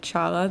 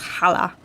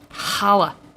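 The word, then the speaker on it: challah: the cha i said chala the bread at the bar mitzvah but it's pronounced hala hala the c is silent well it's not really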